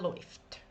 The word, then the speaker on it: läuft: So the combination of these two, it's oi. Du läufst, er läuft.